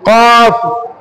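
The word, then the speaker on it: ق: প্রথমে কফ কি কফ কফ কাফ কি কফ কফটা আমাদেরকে আমাদেরকে জিহবার গোড়া হতে জিবার গোড়া হতে গভীর আওয়াজে জিবার গোড়া হতে গভীর আওয়াজে আমাদেরকে উচ্চারণ করতে হবে কফ কফ কফ কফ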